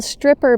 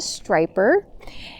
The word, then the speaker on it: striper: And so I had said, wow, that's a really cool stripper bass. And my dad responded back with, well, first of all, it's not called a stripper. They're called a striper.